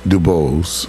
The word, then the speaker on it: Dubose: that careful consideration and I was told it was Duos yeah well you knowen pronunciation it's Canadian oh Canadian there you